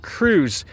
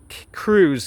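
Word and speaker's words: Kruse: Jack Cruz.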